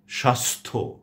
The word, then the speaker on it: স্বাস্থ্য: কিন্তু সে জফলার কোন উচ্চারণ হচ্ছে না। আমি শব্দগুলো আবারও বলছি আপনাদের জন্য। সন্ধ্যা স্বাস্থ্য সন্ন্যাসী মর্ত হর্ম বন্ধা